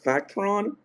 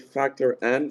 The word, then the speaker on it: Factor N: People usually pronounce it Factron, and it's Factor N.